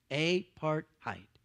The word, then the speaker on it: apartheid: out for a second so three syllables a part height what does it sound like it sounds like well i'll tell you